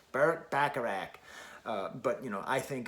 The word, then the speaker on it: Bacharach: i'll say it later i say it like i'm from western new york bacharach but you know i